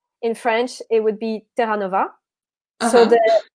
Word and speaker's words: Terranova: Okay, so there's different ways of saying it, because if I say it in French... Wait, let me say, because I say Terranova.